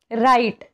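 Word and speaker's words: write: silent आहे next बघा राईट इथे सुद्धा डब्ल्यू च्या नंतर आर आलेला आहे म्हणून इथे डब्ल्यू हे सायलेंट आहे रॉंग डब्ल्यू च्या नंतर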